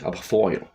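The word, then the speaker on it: Aberfoyle: Il faudrait prendre un accent écossais. Aberfoil. Et rouler les R, ça va être compliqué. Comme en espagnol.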